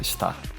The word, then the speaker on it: STRR: E também podem me encontrar no Spotify, em qualquer plataforma de streaming, STRR tudo maiúsculo, que se pronuncia Star.